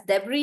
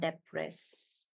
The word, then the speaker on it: debris: is one word guys where the S is not pronounced and we pronounce this as debris even with the S and this is when